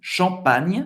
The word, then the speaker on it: Champagne: Champagne, em francês. Hein? A diferença na escrita não é NH e GN, ou seja, é um NH mais forte. Hein? Champagne. Champagne. Não pronunciar o E no final.